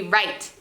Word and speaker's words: write: w at the beginning so the first example of this could be write you know we spell right with w at the beginning r-i-t-e okay so i want